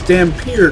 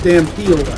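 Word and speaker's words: Dhampir: word damn few Dampier it's Dampier not damn field how do you screw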